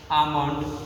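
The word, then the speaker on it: almond: बाद एल दिया हो, तो एल को हमें साइलेंट कर देना चाहिए। जैसे कि shoot, half, top, आमंड, quack, कूड, कूड, इटीसी।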